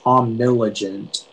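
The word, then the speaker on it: omnilegent: all right uh your word is omniligent um diligent may i please have all of the information yeah so the only pronunciation is omniligent it's an adjective and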